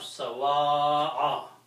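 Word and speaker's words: سَوَاءَ: Okay, so this final word will have the pronunciation of sawa'a.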